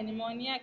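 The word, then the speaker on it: pneumonia: double यह chapter caucus निमोनिया पीड़ित silent रहेगा P N-you M ओ एन आई ऐ निमोनिया 17 110 बिजली ग्रोन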